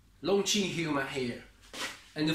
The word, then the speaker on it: Longqi: It's called Longqi. Longqi human hair. And for the pronunciation of Qi, you can think about it. Chinese Kung Fu, Tai Chi.